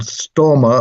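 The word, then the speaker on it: Størmer: so you mentioned Carl Stormer or sturmer as I think it's pronounced in Norway and you showed a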